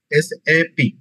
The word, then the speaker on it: SAP: হচ্ছে এস এ পি এটা আলাদা আলাদা উচ্চারণ না এটা অনেকেই স্যাফ উচ্চারণ করে যদিও এটা আসলে ঠিক না এস এ পি এস এপির এখন আমরা